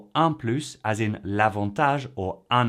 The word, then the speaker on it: plus: However, if the adjective or adverb starts with a vowel or H muet, silent H, then we make the liaison and so it becomes plus.